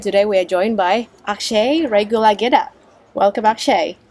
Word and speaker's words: Akshay Regulagedda: I'm Jane, and today we are joined by Akshay Regulagedda. Welcome, Akshay. Pitch perfect. That's how you say my name.